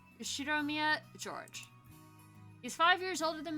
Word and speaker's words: George: cousins his name is written like this and pronounced she drew me at George he's five years older than me so he